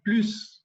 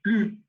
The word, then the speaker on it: plus: Entonces, cuando uno dice plus con una S al final, quiere decir más. Pero cuando uno dice plus sin pronunciar la S, quiere decir ya no hay más.